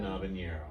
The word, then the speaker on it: habanero: We just got, there's 3 new flavors out: chocolate, mango chili, and lemon habanero. Lemon habanero. Yeah, so the H is silent.